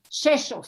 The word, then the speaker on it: Rzeszów: Nació en una palabra que cuesta mucho trabajo pronunciar porque son puras consonantes, R, Z, Rzeszów suena, pero es con R, en Polonia, y vino en el año, creo que en el año 30.